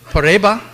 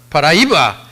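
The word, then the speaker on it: Paraíba: program of the federal University of pariba am I pronouncing that paraiba thank you very much and also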